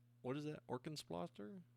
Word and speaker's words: Orkenspalter: Orkenspalter? Is that how you say it? Yes. Yes. Orkenspalter. Orkenspalter. Sorry. I'm trying. I'm learning. Yeah. It sounds much more aggressive in German.